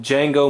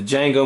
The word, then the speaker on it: Django: name he says yes I know the D is silent you know I love